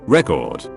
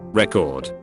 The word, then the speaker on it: record: English has alternating stress patterns that indicate whether related words are nouns, first syllable stressed, or verbs, second syllable stressed. noun, record, verb, record. My fucking god.